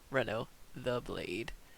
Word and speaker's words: Reno the Blade: It's Denelor, Reno the Blade. Sorry, I've been mispronouncing that. Reno the Blade.